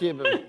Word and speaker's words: Ndiaye: Ndiaye. On ne dit pas le N. OK. C'est juste Ndiaye.